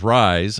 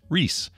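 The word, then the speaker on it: Rhys: of Irish descent and is pronounced Reese like John Connor's Dad in Terminator or the candy maker not the dway pronunciation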